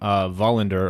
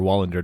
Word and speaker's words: Wallander: It's William Wallander, or Wallander, depending on how you want to pronounce that. I believe it's Wallander if you go by the Swedish pronunciation.